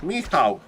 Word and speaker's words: Michał: It's Michał with this W at the end.